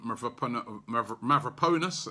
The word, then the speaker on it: Mavropanos: You know, we've kept the 2 youngsters in Mavropanos, as correct pronunciation, and also Rob Holding.